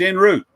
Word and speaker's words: en route: It's pronounced root and sherry. I said Cherie. Oh. It's sherry, and it's en route.